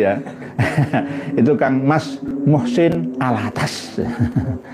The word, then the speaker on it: Al-Attas: Nah, kalau penyanyi suaminya Titik Sandoro itu, ya, itu Kang Mas Muhsin Al-Attas. Al-Attos tulisannya, tapi bacanya Al-Attas. Al-Attas, bukan al-bawah, ya.